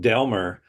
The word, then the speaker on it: Delmar: But um actually it's it's and I pronounce it Delmer.